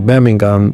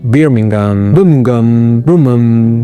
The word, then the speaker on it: Birmingham: Por cierto, lo puedes pronunciar Birmingham, Birmingham. Hay diferentes formas de pronunciarlo.